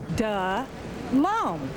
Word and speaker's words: Delhomme: Delhomme.